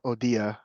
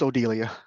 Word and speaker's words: Odilia: my successor might and pardon me for calling her odia um when I presented this in Texas folks in a room were I guess they were pronouncing the L as if they were speaking Spanish since the town is Suarez um anyway it's Odilia and it's all a pseudonym